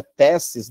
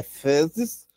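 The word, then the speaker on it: θέσις: Adoção provém da palavra grega iouthesia, no qual ios é filho, e thesis, o pessoal geralmente pronuncia tessis, né? Mas no grego T e H é thesis, posição, né?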